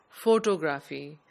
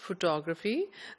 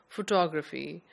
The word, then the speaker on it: photography: pronounce this word as photography putting the stress on the last syllable whereas the correct pronunciation is photography the stress is on the second syllable photography but the outer circle